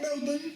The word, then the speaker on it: Melbourne: Or Melbourne, I should say. That's so You funny. don't pronounce the R in Melbourne.